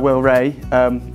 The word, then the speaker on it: Rea: But yeah, so my name's Ray, spelled R-E-A but pronounced Ray.